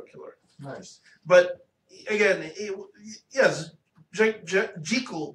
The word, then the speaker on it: Jekyll: But again, yes, Jekyll, because technically it's Jekyll in Hyde. Jekyll's a mispronunciation. But nobody wants to pronounce it that way because that sounds terrible.